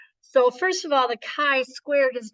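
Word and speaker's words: chi: a Greek letter um it is pronounced a Kai so the K with the long I sound and it is a squared so Kai squared so we will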